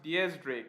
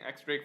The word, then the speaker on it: X Drake: Epic Mark says, hey Morge, X Drake is actually pronounced Diaz Drake, like the number 10 in Spanish.